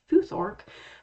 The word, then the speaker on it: futhorc: by about 750 CE I'm using an alternate spelling and pronunciation here with an O and A C rather than an A and A K when I spell and say fuor because of the linguistic shift from A's to O's in anglosaxon and the